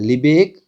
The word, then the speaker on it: Lebesgue: इसकी थोड़ी सी स्पेलिंग आप ध्यान रखना, क्योंकि इसका जो प्रोनाउंस करते हैं वो थोड़ा सा अलग होता है। लिबेग आउटर मेजर।